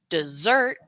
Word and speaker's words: dessert: stands out prominently and the second word dessert the same thing is happening but I'm emphasizing the second part of that word desert and if you